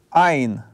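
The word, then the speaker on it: ע: Это согласный "айн". Это гортанный согласный.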